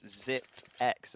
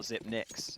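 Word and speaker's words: Xyp9x: I remember when I found out that it's ZipX and not ZipNix.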